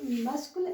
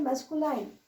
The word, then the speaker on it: masculine: जैसे यहाँ लिखा है LINE, तो बहुत सारे लोग बोलते हैं मैस्कुलाइन, FEMININE, यानी कि नाइन, फेमिनाइन बोल देते हैं, नाइन बोल देते हैं लास्ट में। तो इसको प्रोनाउंस करें तो इस तरह से करें, मैस्कुलिन एंड फेमिनिन जेंडर, ठीक है।